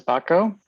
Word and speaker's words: Bacco: Bacco. Rhymes with taco.